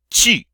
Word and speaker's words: tu: In French, it is tu.